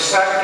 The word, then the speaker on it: Cinque: And Cinque, by the way, is the normal pronunciation of Sank.